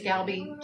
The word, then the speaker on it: galbi: I'm going to say it's galbi, G-A-L-B-I, vermicelli noodles.